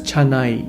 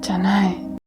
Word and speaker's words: Chanai: The name at the end of the film is spelled Chana, but the male character is referred to as Chanai. Chanai.